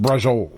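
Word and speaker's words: braciole: But it's pronounced brajol.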